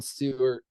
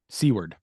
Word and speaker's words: Seward: And then there's a kind of a conversation with him and Jon Stewart. It's not Stewart, it's pronounced Seward.